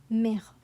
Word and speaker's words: mère: Here we have a sharp E, café, and then here we have an open E, mère, mère.